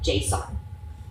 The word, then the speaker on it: JSON: It's going to return you a response in a format like JSON. Now, JSON's not like the guy next door or anything like that. It's spelled very similar to JSON.